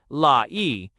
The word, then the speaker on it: Laius: Laius pronounced as 3 syllables, la-e, word, the last king of Thebes, before Oedipus.